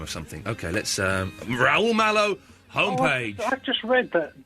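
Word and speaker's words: Raúl Malo: that's rul oh yeah m a l o rul mow that's an anagram of something okay let's um rul mow homepage I've just read that Danny Baker had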